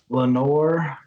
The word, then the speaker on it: Lanier: Lanier, Lenore. Lenore is probably the most popular.